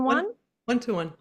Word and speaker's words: 1:1: 121.